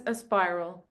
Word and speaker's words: Aspiral: As Aspiral, what do you how do you pronounce it? I pronounce it as Aspiral.